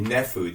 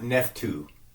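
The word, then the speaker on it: Naphtuhim: The Nephu. The T is silent here, folks. It's not Nephtu. Okay? It's Nephu Heights.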